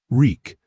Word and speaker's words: Reek: Reek. My name is Reek. It rhymes with weak.